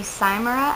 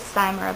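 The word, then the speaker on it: Cymera: uploading it to the computer I use the simura app which is spelled c y m e r a and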